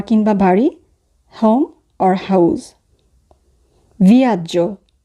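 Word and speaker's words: viaggio: ভিয়াজ্জো, ভিয়াজ্জো, ভ্রমণ, জার্নি। ভিয়াজ্জো বানানোর ক্ষেত্রে যেটি খেয়াল করব সেটি হচ্ছে সবার শেষে আছে GEO, তো সেক্ষেত্রে উচ্চারণ হবে জ, আর GEA থাকলে উচ্চারণ হয় যা।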